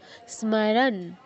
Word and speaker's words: স্মরণ: দীর্ঘ হবে সাতে দীর্ঘ স্মরণ স্মরণ এখানে স্মরণ বলা যাবে না দন্তস যোগ মতো দন্তস হসন্ত যোগ মতো তো দন্তস টাচ করে ময় হস ম পূর্ণ উচ্চারণ স্মরণ স্মারণ ন এর নিচে হসন্ত আছে আমি পুরো নটা বলছি না অর্ধন উচ্চারণ হবে স্মরণ তাহলে লাইনটা কি দাঁড়াচ্ছে